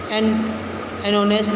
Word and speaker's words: honest: umbrella, an hour, an honest man, an ear. It will be noticed that the words are, honest, ear begin with a vowel sound as the initial consonant H is not pronounced.